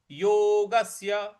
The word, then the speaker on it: योगस्य: जिज्ञा सुरपि जिज्ञासुरपि योगस्य योगस्य जो आधा स है उस पर हमको आघात देना है। योगस्य जिज्ञासुरप योगस्य इस प्रकार से बोलेंगे।